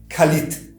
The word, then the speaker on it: Калид: Yes, that is the key Калид A key See, during the pronunciation of this word although the consonant D is written, it is nevertheless read as T [t]. Калит The phoneme D [d]